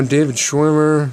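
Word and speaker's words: David Schwimmer: don't do those anymore but uh you know David schwimer is that how you say his name yeah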